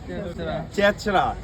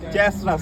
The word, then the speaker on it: চেচরা: চেচরা মানে এমনি উচ্চারণ করলে চেচরাই হবে, বাট এটার নাম আসলে চেচরা বাট এখানে ইয়ের মতো হয়, সিট ধরে। চেচরা, CHESRA, চেচরা।